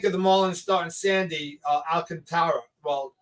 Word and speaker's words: Alcantara: What do we think of the Marlins starting Sandy Alcantara? Well, he's called Alcantara, although his name is spelled Alcantara, and that's how I pronounce it.